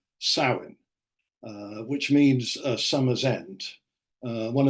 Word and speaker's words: Samhain: A lot of people think it comes from a Celtic festival pronounced Samhain, which means summer's end.